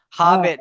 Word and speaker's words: Hobbit: Hey, how'd you spell hobbit? H A B H. Tell him what he has to do there, Phil. I habit. Not habit. Not habit. Hobbit.